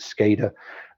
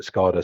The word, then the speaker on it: SCADA: scholar systems or scada I got told off the other day for pronounce because I'm British and I was being told I should pronounce it skater and then the next person speaking called it scada so I have I'm